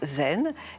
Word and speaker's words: zen: Et Chan est la prononciation chinoise du caractère qui en japonais se prononce zen. Et en coréen, puisque c'est aussi une école qui s'est installée en Corée se prononce sonne.